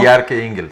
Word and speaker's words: Bjarke Ingels: Bueno, es una charla sobre sostenibilidad urbana y donde va a estar presente el arquitecto danés Bjarke Ingels, así se pronuncia, ¿no? Bjarke Ingels.